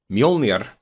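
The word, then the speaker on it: Mjölnir: common example is a lot of people treat mjolnir that's how it's pronounced mjolnir or thor's hammer is a symbol a lot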